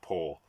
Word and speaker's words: Powell: Music of Time by Anthony Powell, spelled Powell, but as far as I know, it's pronounced Powell.